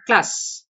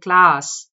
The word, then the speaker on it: class: because try pronouncing class you don't say class right you say class so the vowel sound there is a and it's the long vowel ah it's class it's not class therefore the answer is